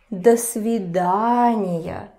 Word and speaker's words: до свидания: До свидания. So the rule about reduction goes to this О as well.